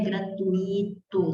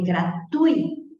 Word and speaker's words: gratuito: Não é gratuito, não existe essa palavra. É gratuito, gratuito.